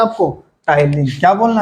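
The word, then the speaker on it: ptyalin: टलीन। क्या बोलना है? टलीन। टाइलीन किससे शुरू होता है? पी से। लेकिन लिखाता क्या है? प्रोनाउंसिएशन क्या होता है? टी से। टलीन।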